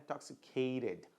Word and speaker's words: intoxicated: Sounds ending in the sound of T and D, né? We pronounce the ed very strongly, ok?